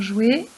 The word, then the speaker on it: jouet: Dans jouet, on fera attention à penser au T muet.